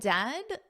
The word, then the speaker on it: dead: And dead, it said like bed, not bead.